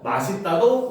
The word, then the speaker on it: 맛있다: 사람들이 바로 뭐다 원칙은 맛 있다 아 이거는 반음이 이렇게 쓰자 마디다이지만 현재는 맛있다고 표준 발음으로 인정을 합니다 그래서 요거는 원래